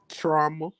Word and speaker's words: trauma: their style of leadership trauma like drama yes two syllables trauma that's what it